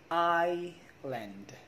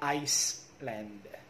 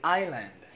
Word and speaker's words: island: you call this one i lend not iceland because if we say iceland that is that one that's an iceland it's a country we say island that's silent s island let's learn english together